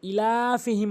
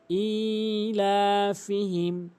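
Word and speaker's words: إِيلَافِهِمْ: লোক করে সেটি হচ্ছে ইলাফিহিম বলে ইলাফিহিম অর্থাৎ হামজাকে এখানে টেনে পড়ে না হামজাকে অবশ্যই এক আলিফ টেনে পড়তে হবে ইলাফিহম ইলাফিহিম এবং টানবো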